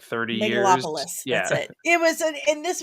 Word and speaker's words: Megalopolis: Megalopolis.